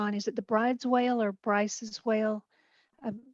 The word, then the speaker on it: Bryde's: And yeah, nobody knows how to pronounce except that it's sort of et tu brutus, but it's not spelled b-r-u-t-u-s.